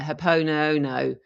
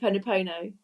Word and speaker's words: Ho'oponopono: Use the Hawaiian forgiveness prayer, Hapono Ono. I can never pronounce it. Ho'oponopono.